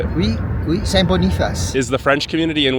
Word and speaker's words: Saint Boniface: Oui, Saint Boniface.